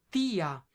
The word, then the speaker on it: tía: Porque si tú ves la fuerza de la pronunciación aquí es en la i, tía.